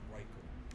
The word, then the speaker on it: Reichel: His last name is pronounced Reichel. Just let you know. I heard you say earlier Rachel or Reichel. Thanks for correcting me, Rory. I've been saying Rachel for years. It's Reichel.